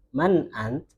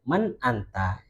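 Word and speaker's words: من أنت: Man ant, kadang itu ngomongnya disukun man ant. Kalau kita bacanya man anta, jadi ya itu kalau standar, masih standar.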